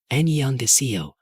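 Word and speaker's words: 안녕하세요: Annyeonghaseyo, she pronounced slowly. That ding sound is soft, in the back of your throat.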